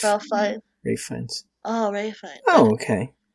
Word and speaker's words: Ralph Fiennes: It was directed by Ralph Fiennes, right? That's how you say his name. Rafe. Ralph Fiennes. Rafe Fiennes.